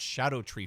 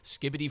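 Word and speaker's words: Scadutree: by the way Lads these are pronounced Shadow tree fragments everybody says skibbidy fragments or uh scatter tree fragments but uh basically in Old English I guess like SC is pronounced sha so these are just called Shadow tree fragments which when you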